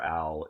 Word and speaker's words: Owhll: For those listening and not watching, the canon name for owl is spelled Owhll. Owl.